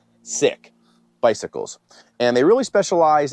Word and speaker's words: Sikk: believe it or not this brand is called sick and you can see it right there but it's not spelled like how you get sick it's spelled s-i-k-k sick bicycles and they really